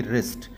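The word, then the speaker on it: wrist: आर्म और हमारी कलाई यानी कि रिस्ट ध्यान रहे यहां डब्लू साइलेंट है फिर हमारी हथेली यानी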